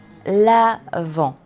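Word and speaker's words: Avent: L'avant, avant, en. Esa V, para facilitarte la pronunciación, es como hacer el vampirito, es decir, que los colmillos tocan el labio inferior. Avant. Y nos subimos hacia la O.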